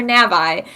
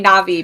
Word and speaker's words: Navi: so I called her Navi and that has just always been the way I do it and I've had to like physically change myself to say Navi because I know that's how it's technically pronounced but I remember I